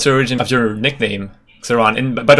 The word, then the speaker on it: Xron: And correct pronunciation is Xron. Xron. All right. Xron, yeah. Xron. But I know it's pretty painful for most of like players, casters to pronounce it. So I'm saying like you can call me however, I don't mind. But yeah, correct one is Xron.